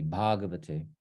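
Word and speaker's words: भगवते: That should be a long A there. It's a typo. It should be Bhagavate.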